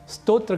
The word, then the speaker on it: स्तोत्र: तो स्रोत और स्तोत्र, जिस समय ये आप दोनों ही अर्थों को जानेंगे उस समय स्तोत्र का उच्चारण स्रोत नहीं करेंगे और स्रोत का उच्चारण स्तोत्र यह नहीं करेंगे।